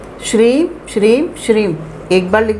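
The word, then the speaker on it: श्रीं: जैसे एक बार श्रीम लिखा, पहले तो उच्चारण उसका सही हो, जो इंग्लिश में हम लोग लिखते हैं SHREEM श्रीम, और हिंदी में आप लिखते हैं श्रा, उस पर दीर्घिकार होता है और एक बिंदी लगी होती है, तो उसका जो उच्चारण होता है श्रिम।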